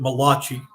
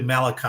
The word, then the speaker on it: Malachi: you would pronounce it Malachi but it's actually Malachi I think is the Hebrew pronunciation the last chapter of